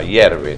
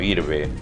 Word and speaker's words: hierve: No está de más saber un poquito de cocina también, que el agua hierve, no hirve, que estas zanahorias están